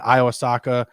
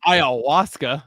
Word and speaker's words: ayahuasca: All that Iwasaka and friggin' Netflix. I'm sorry, what? Iwasaka? I don't know what it is. Ayahuasca. Ayahuasca? Is that how you say it? You said Iwasaki. Yeah, it's ayahuasca.